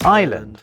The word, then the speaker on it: island: Island.